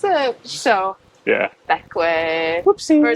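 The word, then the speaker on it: Bequia: we went to beway we kept calling it Bea and every comment on that video was oh it was just like the Tobago y That's not how you pronounce it so yeah backway we're saying back way we spent a lovely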